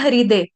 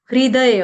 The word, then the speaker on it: हृदय: में हृदय चल जाएगा, लेकिन संस्कृत में हरू, रू, हरू भी नहीं बोलेंगे। हरू बोलने से क्या हो जाएगा, किसी किसी का उच्चारण पूरा ह आ जाएगा। हरू, हरू नहीं बोलेंगे, हम क्या बोलेंगे, रू, रू, रू। हल्का सा ह का टच देना, इतनू सा हल्का सा टच देना ह का, रू, रू।